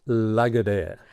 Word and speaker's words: Lagardère: The proper name is Lagardère. How to spell that? Lagardere. Okay. Lagardère. Lagardère. Do you know my version? I tried. Yes, you tried. So my husband is American, so he tried Lagardère.